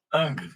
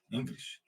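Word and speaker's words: Ingres: exemplo eh Jean Augusto Dominique ang se escreve ingris por exemplo ó o ingr ingris ou ang né esse cara século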